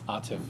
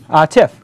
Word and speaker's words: Atif: So with us this week is Atif, I pronounced it correct? Atif. Atif, got it correct.